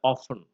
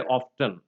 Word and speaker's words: often: T is another sound that is dropped from words like castle and often. Okay, Americans would say often, but usually in British English we have only often.